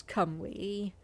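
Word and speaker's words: Cymru: oh let's just listen camry yeah i did think i was pronouncing that correctly yes it's come we so in every single situation the c is pronounced as a harsh k a y is pronounced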